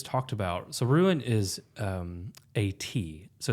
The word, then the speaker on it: Ate: So Ruin is A-T. So it's spelled 8, right? Like that's her name. It's A-T-E. So it's pronounced like A-T, right? Like they're both long vowels.